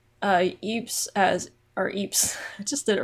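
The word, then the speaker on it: Ypres: uh next comment is from mark kettlewell uh pronounce uh eeps as our eeps i just did it wrong again eep as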